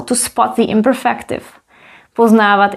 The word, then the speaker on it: poznávat: Poznávat is visually longer than poznat and it also has an accent. Poznávat. So it's also phonetically longer.